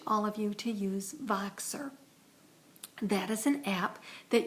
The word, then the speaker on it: Voxer: I also wanted to make this message to encourage all of you to use Voxer.